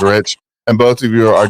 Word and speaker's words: Ritch: Both of you guys' names, Rich, and both of you are down-to-earth guys. And I think you misspelled mine on there a while ago, because mine is RITCH. It's Rich.